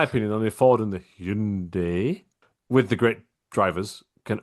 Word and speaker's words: Hyundai: to pronounce Hyundai and Hyundai. Uh it's Hyundai. Well, no. Now it's Hundai, isn't it? Yeah. Hundai. It's not. It's Hyundai. I owned one.